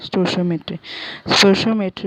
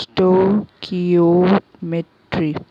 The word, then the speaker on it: Stoichiometry: स्टोइशियोमेट्री pronounce स्टोकियोमेट्री.